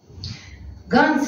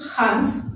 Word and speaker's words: Ганс: Так что ближе, значит, если будем произносить к датам, то есть датчанам, да, это будет Ханс Христиан Андерсен. А значит, все-таки вот этот Ханс Христиан Андерсен для русского языка это как бы неудобство создает, поэтому вы можете знать просто вот эти вариантные произношения его имени, отчества, да? Так что ближе к нам Ганс Христиан Андерсен. Понятно? И такой вариант будет правильный.